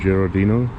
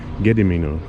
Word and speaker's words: Gedimino: in vilnius in lithuania i think it's called uh gerardino giorondino giordino i should have checked before i started pronouncing it i did have a look gedimino sorry getting me no apologies to all those lithuanians out there but this is a gedi mino you can see the